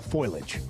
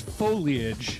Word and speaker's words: foliage: We're running out of time for the fall foilage. The fall what? Foilage. Okay. Is it foliage or foliage? It's foliage. Foliage. It's three syllables.